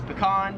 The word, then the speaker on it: pecan: And most Americans Pecan. pronounce this as pecan.